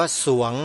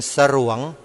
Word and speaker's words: สรวง: ง งู อ่าน ว่า สรวง โยม ออก เสียง ร เรือ ไม่ ได้ เพราะ ส เสือ นำ ใคร ออก ส เสือ